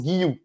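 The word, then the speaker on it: Guiu: il a dit que son prénom se prononce guou donc tu peux dire Guillou c'est lui-même qui l'a dit moi je dis guyou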